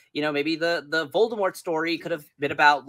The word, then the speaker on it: Voldemort: Voldemort, like he's pronounced without the T in the books. He's Voldemort.